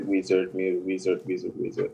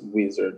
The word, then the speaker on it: Wizerd: So they started calling me Wizard. I was going to go with my name before, but I kind of like it. So I kind of changed the A to the E instead. So it's spelled Wizard with an E.